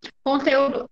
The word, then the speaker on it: conteúdo: Conteúdo, apesar de ter acento, não é proparoxítona, porque o acento está na penúltima sílaba, certo? Então, é conteúdo.